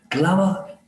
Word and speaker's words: glamour: a glamour uh clamor glamour it rhymes with clamor in the last chancellors